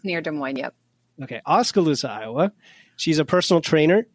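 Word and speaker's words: Oskaloosa: doing good thank you so elain is from osala I pronounce that righta I knew I'd get it wrong it's near De Mo right de Mo Iowa it is near De Mo yep okay oscal loosa Iowa she's a personal trainer gym owner of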